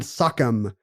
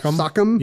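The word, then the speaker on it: sachem: himself elected as the grand sakam like not Rockham sakam but like uh Native American appropriation Sak sakam like some kind of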